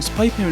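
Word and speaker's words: SPY×FAMILY: 있다고 하네요 스파이 페밀리 중간에 있는 2x 는 헌터헌터 에 가운데 x 에서 모티브를 딴 것이라고 합니다 다만 읽을 때는 그냥 스파이 pul 이라고 읽으면 된다고 하네요 영상은 여기까지입니다 애니 2기가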